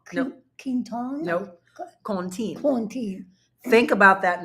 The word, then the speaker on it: Quentin: But if you go back to its origin, which has got French roots to it, the actual pronunciation is? Quinton? No. Quinton? No. Contine.